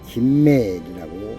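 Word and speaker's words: גימל: 첫 번째 글자는 기멜 김멜이라고 읽습니다.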